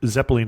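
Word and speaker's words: cepelinai: in show notes but it is pronounced as you said Zeppelin and is really named after Zeppelins it's it may not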